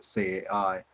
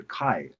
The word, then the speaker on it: CAI: from our European colleagues, they always call this a kai. But as you know, from Chinese, especially from Chinese language pronunciation, we call this a cai. Cai means dish.